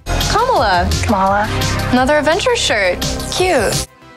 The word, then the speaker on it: Kamala: the impact ms marvel had on the industry kamala khan was the first mainstream muslim superhero to